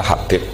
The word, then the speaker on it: Habib: Itu di harokatnya kitab itu ada yang nulis Hubab. Yang benar, oh enggak, yang benar itu bacanya Habib.